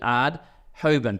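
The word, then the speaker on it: Aerdt Houben: Hoban a e DT so I pronounce it ad hobin a senior official at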